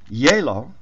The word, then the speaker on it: Gjeilo: because it is norwegian hola o l a yellow spelt g j e i l o and i'm taking this